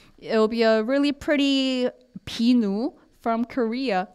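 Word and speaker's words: 비누: it looks exactly like it okay yeah so pinu is so and we're going to have a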